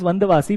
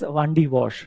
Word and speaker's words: Vandavasi: In actually the name of the place is Vandavasi, but you know British were not able to pronounce the Indian names then, so that's how they wrote Vandavasi as Vandi Wash then.